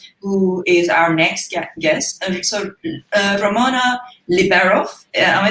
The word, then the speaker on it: Ramona Liberoff: Ramona Liberoff.